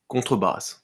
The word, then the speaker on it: contrebasse: And so the pronunciation in French is Contrebasse.